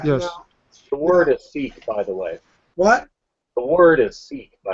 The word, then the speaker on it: Sikh: Now, The word is Sikh, by the way.